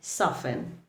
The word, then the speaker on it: soften: T remains silent in words like listen, castle, ballet, or soften.